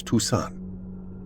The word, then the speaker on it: Toussaint: "You pronounce her last name as Toussaint."